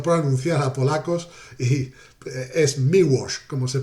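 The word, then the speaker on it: Miłosz: muy muy curioso porque la l del apellido es es muda no suena no es milos aunque no pasaría nada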